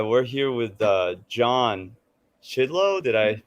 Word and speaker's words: Chidlow: All right, we're here with John Chidlow. Did I pronounce that correctly? That's right. Yeah, yeah, Chidlow.